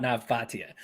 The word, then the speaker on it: Nav Bhatia: But you're about to talk about the thing I actually know about Nav Bhatia. Yeah. Okay. Oh, then you're pronouncing his name.